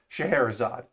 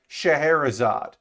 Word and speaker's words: Scheherazade: the cerave gundam shahrazad it doesn't look it's not said how it's spelled so but i was corrected on thursday that it's shaharazad uh so i will say shaharazad that is the kit